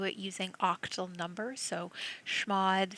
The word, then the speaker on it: chmod: changing file permissions is we can use schmod that's spelled c h m o d and we can do it using octal number so shmod 7 4 4 and